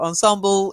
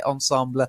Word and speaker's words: ensemble: weaseling and riesling yes so ensemble is what you'll probably hear but you will hear ensemble especially from people who know French well when people know French they do tend to like to pronounce it correctly can sound a bit